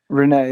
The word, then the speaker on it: Rene: Rene, yeah.